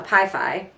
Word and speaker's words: Pi Phi: um zaina was a pie fi um which is pi Beta Phi but in the Greek Community you just say pie fives which they're known for